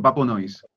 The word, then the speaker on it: PäPöNoize: A ver cómo se pronuncia exactamente. Sí, no, tal cual lo has dicho, Papo Noise.